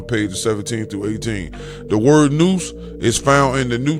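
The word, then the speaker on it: nous: Noose pronounced noose whose right name is nupu is intellect pure intelligence and sound right reason.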